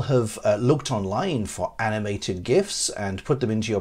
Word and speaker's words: GIF: create your own animated gifs or gifs however you pronounce it using Microsoft PowerPoint I'm not gonna offer any apologies despite the fact that I'm English for pronouncing it gif not Jeff so I hope that